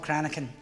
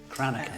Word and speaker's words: Cranachan: We've had a bit of a debate about how to pronounce this. It's called Cranachan. Cranachan.